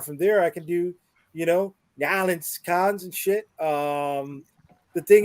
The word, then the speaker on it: New Orleans: So C, how do you pronounce it? New Orleans. Okay. Oh, okay. You get you enunciate. Yeah, I hear you. New Orleans. New Orleans. It is 2 words.